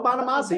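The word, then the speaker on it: Bonamassa: Joe bamasa Bama B Joe bamasa you saying it right now there you go it's like an Italian Dish that I'm ready to eat up um I just loved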